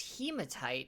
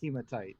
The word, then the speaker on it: hematite: clearly it can't be I'm pretty sure it's pronounced hematite and I'd surely surely not it is humid sight but you know so